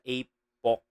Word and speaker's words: Apoc: Ape sa Apok. Apok. Apok. Yung bigkas niya kasi, apok.